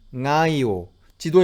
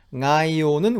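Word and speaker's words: Ngaio: 해 볼 수 있겠죠 우리가 이 발음을 함에 있어서 어려움을 느끼게 되는 것은 이 소리 영국의 비움 이 소리가 아까 각리 하던가 혹은 성애 에서 봤듯이 이게 우리는 늘 그걸 받침으로 쓴단 말이에요 그런데 마우리 어는 이걸 초성으로 쓴단 말이죠 이거 땜에 좀 불편함이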